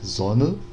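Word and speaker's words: Sonne: A gente tem aqui o primeiro caso, né, da música Zona, que eu falo, né, Zona, e ele fala Zona. Não sei se dá para perceber tão claramente assim essa diferença, mas ele pronuncia esse E como E, né?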